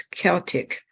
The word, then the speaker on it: Celtic: Celtic, spelled with a C, is pronounced as a hard C.